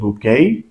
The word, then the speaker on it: bouquet: এটার উচ্চারণ কিন্তু হচ্ছে বুকেই।